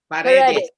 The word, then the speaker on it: Paredes: Is it Paredes? Paredes or am I saying it right? Paredes. Paredes. Okay.